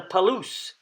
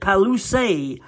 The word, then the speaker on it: Palouse: and they pronounced it Palouse. In English, you don't pronounce the final E on words, but in French, you do. So the Palouse, the French traders would